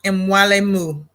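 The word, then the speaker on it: Mwalimu: It's pronounced Mwalaimu.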